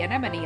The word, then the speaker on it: anemone: it wrong that other time when I said anemone again. Anemone, anemone, anemone. Yeah! I pronounced it correctly!